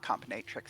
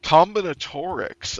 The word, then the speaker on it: combinatorics: I don't think I said that word right, and I think I've Mandela affected you both into saying it wrong. Combinatrix? Yeah, is that right? I Combin. feel like that's right. I think that's what it's called. Combinatorics. Oh. Yeah, combinatorics. Okay.